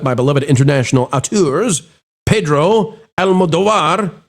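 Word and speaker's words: Almodóvar: beloved international atur Pedro Almodir I put the wrong syllable there it's on the O uh Hiroasu Correra and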